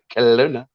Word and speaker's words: Kona: I always got to get the pronunciation right. Kona.